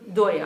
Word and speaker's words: daya: terms of transiteration and then we can choose to pronounce it Bengali style you know like that um so yeah so so doya I'll go for Bengali today pronunciation so doa means mercy